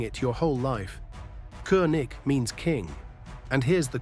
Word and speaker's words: König: Americans say Ko-o-nig. Germans say Koenig, that year sound. And again, the scraping ch each at the end.